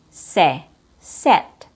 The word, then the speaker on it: set: So the difference between short I and short E is with short I there's no jaw drop. You don't drop your jaw. You just push the air out.